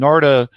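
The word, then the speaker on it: Narada: They call it Narda is how his name's pronounced. And Narda was part of the Sri Chinmoy community, the Indian mystic, who was kind of the meditation leader in the UN.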